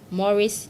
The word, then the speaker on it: mores: Whilst non-material culture refers to the symbolic or intangible aspect of our culture, such as folkways, Mores, though spelled M-O-R-E-S, is pronounced M-O-R-A-S, customs, and beliefs.